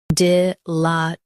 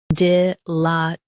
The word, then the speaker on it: dilatoriness: Both US and UK have the same pronunciation of this word, DILATORINESS. Now read the syllables shown on the screen naturally. D, la, t, re, ness, DILATORINESS. Stress LA and keep T light.